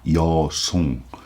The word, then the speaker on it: Yeosong: After the crisis of death and drifting, he arrived at the Yeosong. You know what Yeosong is? Chinese character pronunciation, Korean style pronunciation of Luzon.